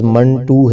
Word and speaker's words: منٹو: کے تلفظ کی تو بہت سے لوگ اسے منٹو پڑھتے ہیں، جو کہ غلط ہے۔ اصل اس کا تلفظ منٹو ہے، جیسے 1 2 ہوتا ہے، تو اس کا صحیح تو جو تلفظ ہے وہ منٹو نہیں بلکہ منٹو ہے۔ ناظرین، ویڈیو کو لائک